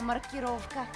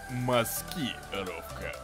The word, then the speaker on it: маскировка: Идеальная маркировка. Правильно говорить, маскировка. Что?